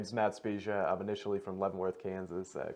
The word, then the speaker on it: Spezia: the last name right so can you please pronounce white for the world for me yeah my name is matt speciai of initially from Leavenworth Kansas currently reside here